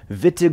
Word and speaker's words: Wittig: the vitige reaction and that's vittig with a big fat german w right there so that's wittig on the proper pronunciation and uh the vita